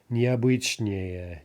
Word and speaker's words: необычнее: Необычный, unusual, okay, more than two syllables, so no shifting stress. Необычнее, необычнее, more unusual.